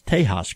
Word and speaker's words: Tejas: Not only can I pronounce Dos Equis, I can pronounce Tejas correctly.